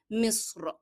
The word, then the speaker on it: مصر: We have two things to notice here, that meme is having kasra. So there is kasra appearing below meme, and sad is a hard letter, because there is a common mistake among people that they usually pronounce the word Egypt with fatha above meme, and that's not correct. Most of the people are using this as conversational word. However, the very correct way of pronouncing Egypt is with kasra below meme. مصر.